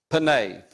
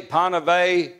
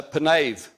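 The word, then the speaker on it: פָּנָיו: read Hebrew it's a penave ends with a V penave okay this is the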